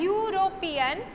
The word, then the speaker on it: European: But since we pronounce it as European, the sound is YU, and university also the same thing.